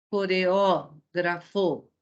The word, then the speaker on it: coreógrafo: Coreógrafo. A antepenúltima sílaba é a sílaba tônica.